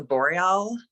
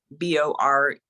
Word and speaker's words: Boreal: I have heard uh I think it's pronounced the Boreal owl uh that b-o-r-e-a-l Memorial thank you yeah